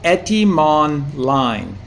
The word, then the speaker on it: Etymonline: with various others as well, but it's called Etymonline. And so I'll just spell it for you.